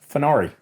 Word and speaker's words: Funari: Funari. Funari. Like the car with an N.